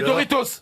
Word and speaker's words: Doritos: les chouros non les doritos on prononce pas le s chez nous on prononce pas le s mais eux ils le prononcent c'est on adore ça